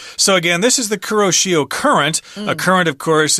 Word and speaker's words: Kuroshio: Japanese or in English when we pronounce Japanese words we tend to pronounce every syllable Kuroshio but if the Japanese are speaking they probably kind of scrunch all this together and say crucial or something like that hey ciao in Mandarin